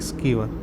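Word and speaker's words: Sciver: आईसीसी सर्वश्रेष्ठ महिला खिलाड़ी मिताली स्कीवर, इनको बोला जाता है साइबर भी, इनको स्कीवर वैसे नाम है, यहाँ पे जो है प्रोनाउंसिएशन इनकी है नैथली स्कीवर, इंग्लैंड के।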